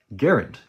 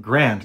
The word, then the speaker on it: Garand: to the next level garend is technically the proper way to pronounce the name garend rhymes with aaron and the reason for